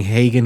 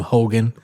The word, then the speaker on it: Hagen: You know, he he said he kept mispronouncing Hagen. He kept calling him Hogan.